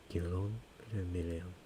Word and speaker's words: Guillaume le Million: Guillaume le Million フランス語 If it doesn't rhyme, you're not pronouncing it right.